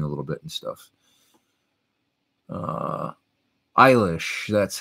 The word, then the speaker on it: Eilish: Eilish, that's how you pronounce Billie Eilish, says Chabu P.